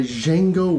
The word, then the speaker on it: Django: the Gathering Storm by Django Wexler the D is silent so this is chapter